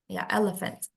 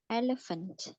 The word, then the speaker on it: elephant: An elephant is larger than elephant. Jadi kita ada ini ya, PH di Inggris itu jadi F, elephant. Elephant.